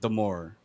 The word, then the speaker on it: D'Amore: 2024 first of all it's pronounced the more it rhymes with adore so second of all